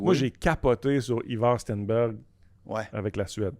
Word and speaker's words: Stenberg: Puis c'est pas Ouais. de même que ça se prononce, mais c'est de même qu'on va le prononcer dans la NHL. Là. parce qu'on devrait dire... Stenberg.